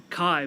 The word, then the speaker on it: Kai: also live in philadelphia can i make sure i pronounce it kai mateo kai my first name is kai kai okay kai thank